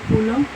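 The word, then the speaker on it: coulomb: charge is equal to Kum okay B is silent Kum small as short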